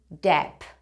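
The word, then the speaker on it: Depp: e en el apellido no decimos Johnny Deep se dice Johnny dep redoble de tambores por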